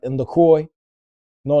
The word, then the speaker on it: La Croix: French would pronounce that La Croix. The Croix, for real?